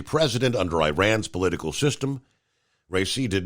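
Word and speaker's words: Raisi: Islamic Republic was a protoe I hope I'm pronouncing his name right uh REI r a i s i RI was a protoe of Iran's supreme leader the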